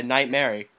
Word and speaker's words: Knightmari: I'm your host, Knightmari, and my Oh, that's co-host, how you say it? Like a Mary? yeah, Knightmari. Like Knightmare had a little lamb?